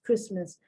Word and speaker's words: Christmas: t is pronounced but you put the christ and you put the mass together and it's christmas no t pronunciation but the t is